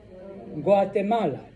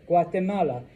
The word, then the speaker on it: Guatemala: or a U, okay, it is literally the same G that you and I use. G, G, G. All right? So, the name of this country is what? Guatemala. G, Guatemala.